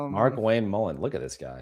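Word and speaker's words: Markwayne: Apparently, if you call his office and said you want to speak to Mark Quain Mullin, they got pissed that it's like it's pronounced Mark Wayne.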